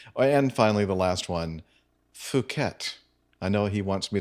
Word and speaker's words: Phuket: You quite understandably pronounced it as FU-KET.